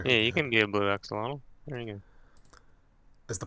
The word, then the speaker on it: axolotl: Is it called an axolotl? How do you pronounce it?